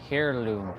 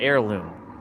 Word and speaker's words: heirloom: you would look for hairirloom products. Interesting. Hairirloom or air. Sorry, not hairirloom. Heirloom. Come on. Superhero of love. How dare you mispronounce that word? You know very well. That's heirloom, bro.